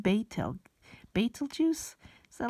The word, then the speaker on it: Betelgeuse: paper entitled the fainting of the nearby supergiant petal geese he told CNN that oh it's pronounced Beit el baitul juice is that like Beetlejuice okay they named it